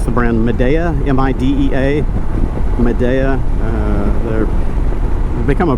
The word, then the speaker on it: Midea: I found some from, I think you pronounce the brand Midea, M-I-D-E-A, Midea.